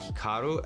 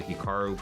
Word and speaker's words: Hikaru: to pronounce Hikaru nak now even myself when I pronounce my name was definitely more Americanized versus Japanese certainly if I was pronouncing it correctly it would be more like Hikaru as opposed to Hikaru but I've spent so much of my life here in America that that's just how I pronounce it and everyone does